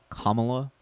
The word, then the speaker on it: Kamala: This is just a chart of by the way, it's pronounced Kamala.